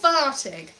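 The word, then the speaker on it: Varteg: double f double f the sound for v is one f one f so that's very important there's a place called vartig and in english it's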